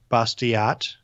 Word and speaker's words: Bastiat: our F and L careful sofa Tennessee Frederic Bastiat okay and you were pronounced to see but if it's like a